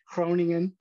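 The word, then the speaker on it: Groningen: she went to use my best dutch pronunciation here cronian in uh in the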